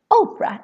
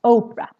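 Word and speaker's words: opera: is how is they Oprah in Swedish their musics I'm Oprah very very long and the reason why it's long is because we have just one confident coming after the P so remember one consonant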